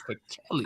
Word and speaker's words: Pichelli: Shout out to Laura for teaching us that it's not Pichelli, it's Pichelli. I was just going to say you said it right.